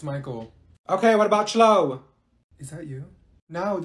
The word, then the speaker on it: Michael: beating you mean Beatrice thank you Mikhail ma'am it's Michael okay what about slow